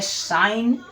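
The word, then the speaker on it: sign: तो सही आपका है साइन निशान होता है। अब कुछ लोग बोलेंगे सिंह तो गलत होगा। ठीक है? क्यों? क्योंकि यहां पर भी जी क्या है? जी आपका साइलेंट हो गया है।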